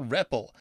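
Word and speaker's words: REPL: here ah I enter something called the repple that's spelled RPP it actually stands for read evaluate print Loop you'll know you're in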